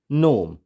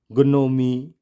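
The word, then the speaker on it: gnome: जैसे foreign, campaign and नोम, यहाँ पर हम इसको ग्नोमी या ग्नोमे इस तरह से नहीं पढ़ेंगे, जी साइलेंट हो गया।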